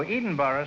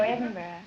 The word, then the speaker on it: Edinburgh: Oh, Edinburgh, Scotland, huh? No, Edinburgh.